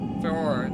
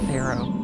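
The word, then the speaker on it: Farore: Faror, the goddess of courage. As a kid, I always pronounced it as Pharaoh.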